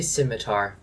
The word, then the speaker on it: scimitar: How do you say scimitar?